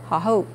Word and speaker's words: Hohou: That means say it higher, Hohou.